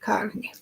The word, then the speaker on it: Carney: Like it's a car and New York, Carney.